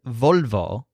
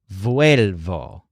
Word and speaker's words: vuelvo: So instead of volvo, it's actually vuelvo, kind of like contar in the woods.